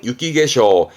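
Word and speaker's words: 雪化粧: 발음은 유키게쇼. 이때는 땡땡부터 개가 됩니다. 유키게쇼가 됩니다.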